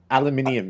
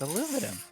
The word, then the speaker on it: aluminium: Aluminium is the way you're supposed to say it. It's aluminum. I don't believe in the British. So, no, we're Americans and we like saying things wrong.